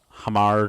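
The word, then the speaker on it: Hamarr: it wrong but uh it's hamar trolls it's like like h m a RR troll mhm um and they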